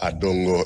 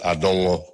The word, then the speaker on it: Adongo: I was told that the name is not Adongo, it's Adongo. So you have to pronounce it well for him to know that you really know him.